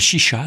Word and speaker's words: Xixa: Ça s'appelle Chicha, ça s'écrit Xixa.